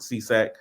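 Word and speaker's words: SESAC: three of them in the US you have seesac which is a newer one that's a SE CAC and they just pronounce it c s sa AC we we just pronounce it seesac I don't know what the acronyms mean um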